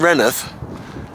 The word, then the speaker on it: Rainworth: I often am but at least I'm saying renth not you know mispronouncing it okay it's an